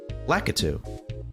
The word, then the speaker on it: Lakitu: How do you pronounce Lakitu? Lakitu.